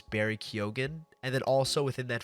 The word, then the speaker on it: Barry Keoghan: his name, so that's why I know it's Barry Keoghan.